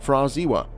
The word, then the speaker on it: Pra Ziwa: The pronunciation of this name is Fraziwa.